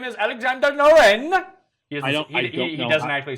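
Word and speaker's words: Norén: That's with Noren? With Noren, yes, Alexander Noren. What's the right way to pronounce it with that accent?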